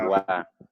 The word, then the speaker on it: avoir: Aboira, Avoir. El verbo avoir. abuá. Exactamente, la O con la I se pronuncia UA. Entonces sería avoir.